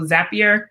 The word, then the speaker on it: Zapier: have pronounced it so the way to remember is it rhymes with happier so zapier makes you happier and the word also